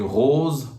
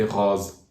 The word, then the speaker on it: rose: Some region pronounce the closed O as open O. So instead of saying rose, people might say rose.